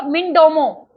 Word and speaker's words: Mindomo: Next लिखो मिनडोमो, MINDOMO, मिनडोमो।